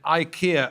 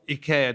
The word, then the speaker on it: IKEA: from factory waste and ikea or ikea depending on how you care to pronounce it buying up used furniture